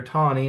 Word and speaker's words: Taney: Post World War II, Justice Taney and throughout 19th, 20th century history, Justice Taney or Taney, however you want to pronounce it, becomes fairly, ridiculed for this decision,